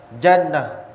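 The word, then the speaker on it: جَنّة: Nun tapi besok pada barisnya Jannah surga jinnah Jin junnah perisai hebat bahasa Arab tukang baris saja boleh dapat tiga masuk yang berbeda Kalau bahasa Melayu sudah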